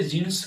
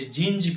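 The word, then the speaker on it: jeans: इसे जींस कहते हैं। इसे हम लोग पढ़ देते हैं जींस। बट इंग्लिश प्रोनाउंसिएशन में शुद्ध प्रोनाउंसिएशन करेक्ट प्रोनाउंसिएशन जींस नहीं होकर ये जींज कहलाता है।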